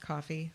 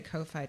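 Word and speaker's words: Ko-fi: can join on coffee I found out it's pronounced coffee but I like to say Kofi too so coffee Kofi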